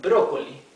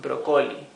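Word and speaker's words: brócoli: ESP AK broccoli is broccoli the accent sorry the ti is indicating us that we have to pronounce it broccoli and not broccoli leak is puero buero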